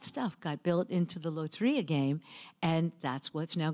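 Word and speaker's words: Lotería: want at the bus stop is the game Loteria. And did I pronounce it right?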